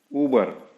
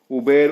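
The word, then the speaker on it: Uber: पे जाना है आपको, ऊबर। हाँ, ये बहुत से लोग उबेर उबेर करते हैं, मैंने सुना हूं, वो गलत प्रोनाउंसिएशन है, ऊबर।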